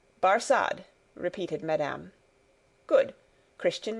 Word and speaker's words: Barsad: "Barsad," said Defarge, making it French by pronunciation. But he had been so careful to get it accurately that he then spelt it with perfect correctness. "Barsad," repeated Madame.